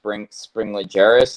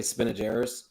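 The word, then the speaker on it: spinigerus: Okay, so essentially, when the first Australian gecko I got were Strophaeus springillaris. Is that how you say it, Jason? There's actually Spinageris.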